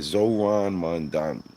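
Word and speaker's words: Zohran Mamdani: Yeah, Zoran Mondani.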